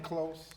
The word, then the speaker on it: Lanclos: And Did you she's pronounce all it the way, Lanclos?